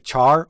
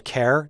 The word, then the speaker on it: char: want to discuss is a char or a care depending on how you pronounce it we've talked mainly about